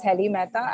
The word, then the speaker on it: Helly Mehta: Yeah, you pronounced me correctly. My name is Helly Mehta, and I am from the Department of School of Public Policy.